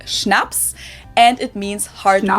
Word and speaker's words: Schnaps: In German, we spell it like this and say Schnaps, and it means hard Schnaps?